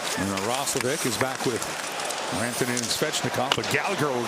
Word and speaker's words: Rantanen: I told Mikko Rantanen this morning, you know, to get him going, I might switch the pronunciation. I know it's not correct of his name to Rantanen, so I'm doing it.